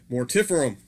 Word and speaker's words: Mortiferum: I've always pronounced their name as Mortiferum. I actually asked the band last night, and it is pronounced, they pronounce it Mortiferum.